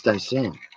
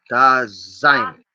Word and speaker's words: Dasein: Again, what we bring from tonight, if anything, is Dasein. Let me see if I'm pronouncing that right again. The German pronunciation must be very important for this word. To be there. Da-sein. Da-sein.